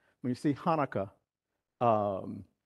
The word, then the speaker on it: Hanukkah: it should be called chanaka but you know you don't call it chanaka you call it what Tanaka but it's supposed to be like a little Gravelly sound before you said supposed